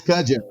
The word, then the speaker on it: Cudjo: Did I say it right? Cudjo? You said it right, All Taryell. right. It is Cudjo.